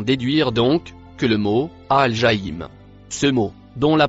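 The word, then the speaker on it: الجحيم: Le mot en rouge, se prononce, Al-Jaïm.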